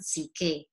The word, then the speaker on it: Psyche: with you the first part of cupid and ck and remember ck is the name of this character this young lady and it's how we pronounce also i think in greek uh soul